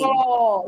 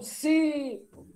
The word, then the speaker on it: cipó: cipó, e não cipo.